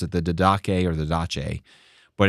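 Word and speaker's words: Didache: for fish this is really nerdy but it's pronounced diday and the only reason I had to figure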